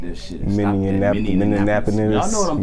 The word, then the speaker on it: Minneapolis: you niggas out here who wanna refuse to pronounce Minneapolis correctly, Minneapolis. I got a problem with it. So How they I'm gonna need pronounce y'all it? nigga to respect this shit. And stop that Minneapolis.